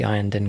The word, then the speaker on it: Iyanden: to be delivered here by the Iyanden Craftworld. I'm pronouncing them correctly now. It's taken a whole game. That's the correct the correct pronunciation.